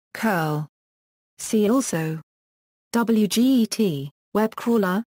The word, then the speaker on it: cURL: the project FAQ says we pronounce curl with an initial k sound curl see also WG web